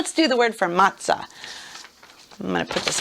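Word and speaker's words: מצה: the man praying and it's matah almost like we would say pizza all right ma interesting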